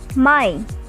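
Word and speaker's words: Mai: as april of english may just take the ending as i at the end then it is called as my so far you know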